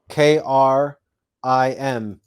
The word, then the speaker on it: KRIM: So you pronounce the mantra KRIM K-R-I-M: KRRRIIIMMM. You want to extend the R and roll the R.